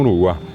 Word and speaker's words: Uruguay: Que hoy decimos Uruguay, claro. Así como Paraguay es Paraguay. Claro. Hasta ahora la gente dice Jata Paraguay, la correcta pronunciación. Uruguay es el caracol de mar, en realidad nasal, un Uruguay.